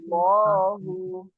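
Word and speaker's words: الله: menjadi dua ya untuk lafaz Allah itu ada dua macam ya Yang pertama adalah yang dibaca tebal ya Yang pertama adalah yang dibaca te tebal dan itu ketika ada fathah atau dah Yang mengiringinya ya jadi dalam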